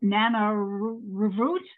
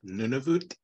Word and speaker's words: Nunavut: dangerous places with not in Plymouth but in Nana root Canada uh what year did that happen plus or minus 10 years are you trying to pronounce Nunavut is that okay none of them wow that's